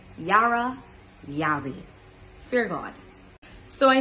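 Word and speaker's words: יראה: So when we take this from a Hebrew aspect, fear in Hebrew, it means yara. Don't want to butcher these words at all. Bear with me. Yara. It's Y-A-H-R-A-H. Yara.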